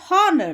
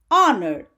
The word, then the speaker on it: honor: get the article an an is also used for silent h as in our or honor we don't say how we we don't say honor that is wrong we say our honor so we have to